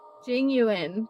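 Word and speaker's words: Jing Yuan: I think we only scratched the surface of this general Jing Yuen. Oh, definitely. Jing Yuen. That's how you say his name.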